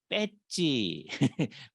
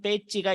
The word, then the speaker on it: 배지: 중고등학교 다닐 때 학교 뺏지 매지라는 말을 우리는 일본식으로 발음을 해서 뺏지 그랬잖아요 다 뺏지를 달고 다녔어요 그거예요이 때찌가 있는 사람은이 학교 학생이다 이런 거죠 그런 것처럼 이런 배지가 있어야 교회다 근데 차이점은